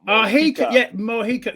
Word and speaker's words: Mojica: Let me teach everybody how to say my name phonetically. Yeah. It is Mojica. Mojica.